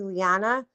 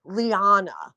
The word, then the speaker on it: Lyanna: my third grade teacher he refused to call me lyanna so he pronounced my name Liana Liana and I I was